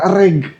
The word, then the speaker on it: RRAG: Asal usulnya reg. Apa dibacanya rag? Reg atau rak boleh. Gue lebih sering nyebutnya reg aja sih. Jadi kayak kalau di bahasa Inggris kayak lap gitu.